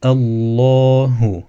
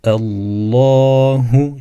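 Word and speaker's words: الله: yani fetha aldığı için lem kalın okunur Allahu yani ince değil u değil de Allahu şeklinde okunur yine bu misalim de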